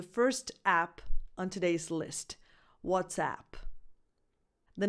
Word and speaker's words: WhatsApp: But if you're listening or talking to a non-Italian speaker, it's important to distinguish between the question, the expression, what's up, and the name of the app, WhatsApp.